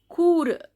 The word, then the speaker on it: cours: Cour, here S is silent.